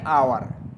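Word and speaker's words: hour: करते हैं जैसे एन आवर आवर में किसका साउंड है वावेल का है ठीक है एच क्या है साइलेंट है तो क्या यूज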